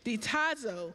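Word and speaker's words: διστάζω: hesitancy in the Greek it means it is pronounced the I knew I was going to trip on this diazo which means that they were hesitant this means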